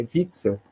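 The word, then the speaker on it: Witzel: pouquinho de alemão né quando o sobrenome alemão se pronuncia ver então não é o wi-fi o y é vixel né É então Vitor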